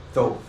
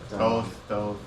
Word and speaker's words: Thoth: It can be used for divination, but it's really not esoteric as much as the Boda deck is, or the Thoth deck is super esoteric.